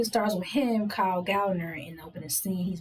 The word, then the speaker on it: Gallner: The one that plays Joel, his name is Kyle Gallner. Or Gallagher. I'm trying not to mispronounce his name. I think it's, you said it right. Gallner, that's his name, yeah.